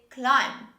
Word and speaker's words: climb: first example this word in this word we don't say the b sound we say climb climb say with me climb